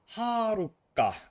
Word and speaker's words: Haruka: Oh, it's spelled Haruka with two K's. I was close actually. Oh wait. Like this. So it does have a long A.